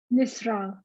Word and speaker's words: Nusra: Am I pronouncing yours? Nusra.